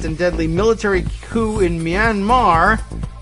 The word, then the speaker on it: Myanmar: At the conference, Flynn was asked why the violent and deadly military coup in Myanmar, which the question poser pronounced Minimar, couldn't happen in the United States.